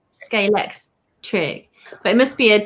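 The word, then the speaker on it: Scalextric: compared to the rest everyone says sk electrics it's like no it's scalex trick but it must be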